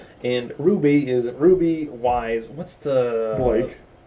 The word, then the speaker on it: RWBY: we'll describe real quick the name of the show is Ruby but it's spelled RWBY now RWBY stand for